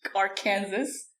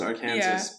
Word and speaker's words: Arkansas: like it's like the arkansas kansas argument what is that one okay it's like kansas is part of arkansas but then nobody says our kansas no it says arkansas but everyone says exactly